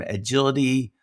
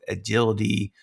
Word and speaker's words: Edgility: Today I am very excited to be speaking with Allison Wyatt from Agility Talent Partners. Just so you know, it's spelled E D G I L I T Y.